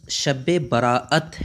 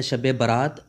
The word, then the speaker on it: شب برأت: صادق تک رہتی ہے۔ اس لفظ کا اصل تلفظ شب برأت ہے۔ عام طور پر جو مشہور ہے شب برات، یہ غلط ہے۔ برات کا معنی ہوتا